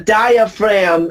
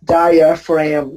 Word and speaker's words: diaphragm: The diaphragm is the big muscle right below your lungs. And remember, you pronounce it as diaphragm, not diaphragm. Okay, the G is silent.